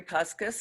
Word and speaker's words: Puskas: My name's Puskas, and I've lived in the community for over